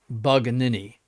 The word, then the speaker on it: Bugnini: who that is his excellency insists on the pronunciation of Bugnini as Banini.